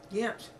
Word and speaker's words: Ghent: Ghent. Ghent. Ghent. Ghent. G-H-E-N-T. Ghent. One syllable.